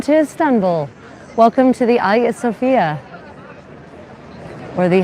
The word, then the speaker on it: Hagia Sophia: Welcome to the Ayat Sophia or the Hagia Sophia as some people mispronounce.